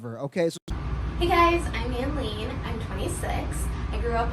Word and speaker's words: Anline: And with a name that rhymes with queen, I mean, you gotta love her, okay? Hey guys, I'm Anline.